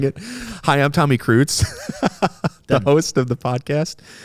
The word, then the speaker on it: Kreutz: Did you know you're pronouncing your name wrong? No, I'm saying it right. Kreutz. It's not Kreutz, it's Kreitz. No, it's Kreutz. So long I.